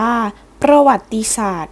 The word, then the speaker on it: ประวัติศาสตร์: วิทยาการ และ เทคโนโลยี ต่าง ๆ ประวัติศาสตร์ อ่าน ว่า ประวัติศาสตร์ หมาย ถึง เรื่อง ราว หรือ เหตุ การณ์ ความ